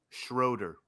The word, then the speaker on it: Schroeder: name anyway he demanded the prosecution oh sorry schroeder schroeder oh schroeder judge schroeder i'm going to